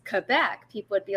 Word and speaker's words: Quebec: for pronouncing quebec is quebec that's how it is in the um militarized alphabet because if i pronounce it correctly the french way which is quebec people would be like